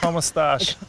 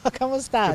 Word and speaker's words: como estás: Como estás? Como estás?